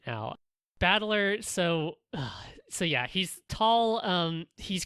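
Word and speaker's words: 戦人: But it's pronounced Battler, and so all the rest of his family is also like this.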